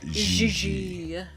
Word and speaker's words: JJ: No, I mean JJ. Gigi. JJ. En français, you pronounce G like J and J like G. She may very well be JJ in America, but in France, she is Gigi.